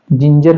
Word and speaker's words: जिंजर: है जिंजर इसको पढ़ेंगे अब देखिए यहां पे जी के बाद में क्या आ रहा है इ आ रहा है इसको उसको भी क्या पढ़ेंगे? ज पढ़ेंगे। तो ये क्या हो जाएगा? जिंजर हो जाएगा।